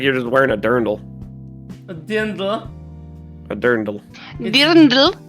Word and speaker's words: Dirndl: Does it look like you're wearing a dirndl? Hmm? It looks like you're just wearing a dirndl.